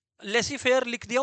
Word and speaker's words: laissez: Capitalist economy में dash देके लिखो profit motive, comma Lesi fair economy, Lesi fair, Lesi का फुल फॉर्म लिख दिया, स्पेलिंग लिख दिया हूं, LAISSEZ। लेसी है, लस्सी नहीं है, है ना?